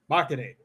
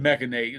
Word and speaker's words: machinate: Machinate. Oh, machinate. That makes sense. There's no E because I said Mechanate and there's a A.